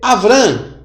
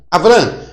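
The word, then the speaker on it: אברם: Como é que se lê Abraão? Olha, se lê Avrã. Avrã.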